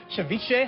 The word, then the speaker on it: ceviche: And we posted all those details along with Mark's recipes for ceviche.